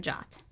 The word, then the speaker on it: JWT: Firebase gives you complete control over authentication by allowing you to authenticate users or devices using secure JSON Web Tokens, pronounced JOT.